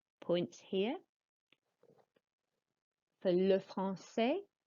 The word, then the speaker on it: français: For le français, the C is pronounced like an S sound, le français.